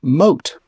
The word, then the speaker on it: Moth: There is also Don Adriano de Armado and his trusty page boy whose name is spelled like moth but is pronounced moat.